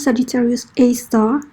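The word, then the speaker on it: Sagittarius A*: Donc la science, comment la science appelle ça, c'est Sagittarius A, mais le prononce Sagittarius A star.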